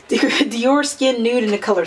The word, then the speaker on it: Dior: Dior Skin Nude in the color 60.